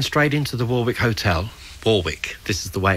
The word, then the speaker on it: Warwick: York and then straight into the Warwick Hotel Warwick this is the way it's pronounced I understand and then all sorts of